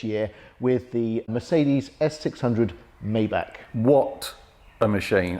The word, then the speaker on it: Maybach: with the Mercedes s600 Maybach what a machine or my back why back many of you said I should pronounce it oh my back so the Maybach a